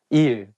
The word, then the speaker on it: 일: So you can use it when you call your teacher, like saying 선생님, 일, day. It has the same pronunciation of the word meaning work.